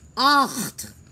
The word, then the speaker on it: acht: Por ejemplo, para tú decir 8 es acht. Acht. se pronuncia, es muy gutural porque la garganta es la que hace la fuerza vocal.